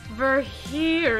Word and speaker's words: Virgilio: we're Virgilio Deborah Julia it's pronounced ver here yeah here yo now